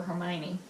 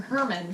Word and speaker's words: Hermione: you could do what JK Rowling did for Hermione her pony that was the entire reason why that scene was there is because too many people were mispronouncing co-writing I was calling her Herman for the longest time no I was worse